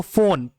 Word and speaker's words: phone: example देखो, फोन, PHONE, फोन, PH को आपने यहाँ फॉ पढ़ा, फॉ, और वहीं पे ENOUGH को